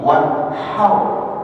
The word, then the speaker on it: وانحر: Har bukan ha ya, wanhar bukan wanhar, tapi wanhar. Ha di situ. Hau.